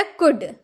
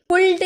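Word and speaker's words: could: Next है हमारा कुड। कुड सी ओ यू एल डी कुल्ड नहीं कुड। कुड एल हम लोग का यह साइलेंट हो जाता है।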